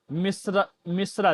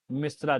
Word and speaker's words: मिश्र: मिश्रा जी बहुत लोग 99% 99% इसका उच्चारण गलत करते हैं, क्या बोलते हैं? मिश्रा जी, जबकि बोलना क्या चाहिए? मिश्र जी।